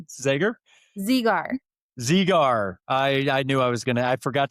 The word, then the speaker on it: Zegar: So it's like Z just, with a gar.